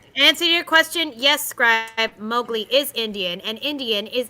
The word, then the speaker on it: Mowgli: So, and answer your question, yes, Scribe, Mowgli is Indian, and Indian is Asian.